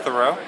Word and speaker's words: Thurau: Theoro.